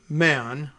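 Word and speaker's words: Mahon: on Tuesday judge William Mann a man like Mahan m-a-h-o-n which very often is pronounced man judge William Mann said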